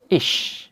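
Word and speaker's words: ich: প্রথমটি হচ্ছে SH বা তালব্য শয়ের মতো, যেমন ই সেহা, ইস, ইস, যার অর্থ আমি।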